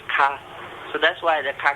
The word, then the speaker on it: K: We go like, ah, and K in Portuguese is pronounced ka.